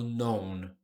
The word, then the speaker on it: known: Esse K é silent. Silent K. Então eu falo known.